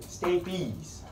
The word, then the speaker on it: stapes: start to influence me I'm influencing you right stabies as the proper pronunciation this acts under the foot plate of